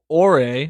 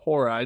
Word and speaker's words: Horai: She was laughing like a Ore, or Horai, depending on how you want to pronounce it, 2 different versions.